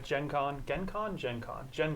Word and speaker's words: Gen Con: short words phonetically so I see G and I go Gen gen Gen Con but it's obviously Gen Con we're in America now yeah that's like generation okay so if I